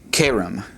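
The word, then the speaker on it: כרם: All right, the word next for vineyard is, once again, notice that the accent on all of these is on the second from the last syllable. This would be kerem. Kerem.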